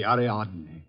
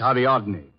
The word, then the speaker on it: Ariadne: good she's practically superb the aradne the what Adney the girl in the Statue oh that's ariadne tragic nymph of Greek mythology don't tell me you're